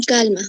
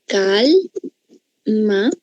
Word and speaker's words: calma: Calma tiene dos sílabas, es una bisílaba. ¿Cuál es la sílaba tónica? ¿Cuál es la fuerte? ¿La cal o la ma? La cal. Calma. Perfecto.